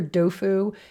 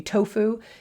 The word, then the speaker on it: tofu: same characters in pronunciation you'll often hear dofu in Chinese but it's tends to be tofu in Japanese and the word toe